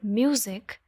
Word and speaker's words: music: So, for example, in the word music, the bold syllable mu is stressed. Okay? And zik is not stressed.